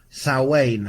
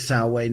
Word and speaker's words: Samhain: year and so we're going to look at salwain i know it's spelt samhain but it's pronounced our wayne depending on where you're from hello caroline and this whole journey with sal wayne this whole journey with the imminence of the